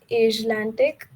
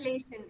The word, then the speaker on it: Atlassian: So, as most of you know, she's recently secured an internship at Microsoft and also at uh, Atlantic, if I'm pronouncing it correct. So, hi Diksha. It's Atlassian. It's Atlassian.